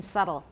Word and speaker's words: subtle: a phoneme everybody notice b is not pronounced in subtle subtle shows that shows